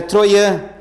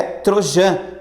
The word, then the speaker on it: Trojan: falou assim Ô professor não é Trojan É troian eu falei ah tá dane-se aí todo mundo começou a rir ah professora só queria te ajudar aí na pronúncia eu falei Dane lá na prova tem um microfone por favor pronuncie corretamente tem microfone na prova não tá mas depois eu fui ver no Google no Google tá para ver a pronúncia certinho realmente eu tava certo é Trojan tá tran Tá ok